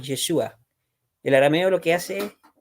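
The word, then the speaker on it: ישוע: En hebreo se escribe, o se pronuncia, mejor dicho, Yehoshua, y el arameo es Yeshua.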